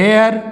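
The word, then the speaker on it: heir: यूज कर रहे हैं एन हेयर यह एन हेयर तो यह क्या हो गया यह एयर उत्तराधिकारी तो यहां पर हम क्या करते हैं कि एन का यूज करते हैं क्योंकि हमारा यहां पर चीज जो है वह साइलेंट है तो अच्छी तरह से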